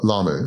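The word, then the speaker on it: Lomu: How do you pronounce the last name of this guy Jonah on the team? Lamu.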